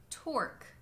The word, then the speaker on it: torque: The exception to this is if you see the combination of graphemes q-u-e, and only if you see that combination at the end of words. If you see those at the ends of words, it means that it's just pronounced as a k. Like in the words plaque, torque, bisque, baroque.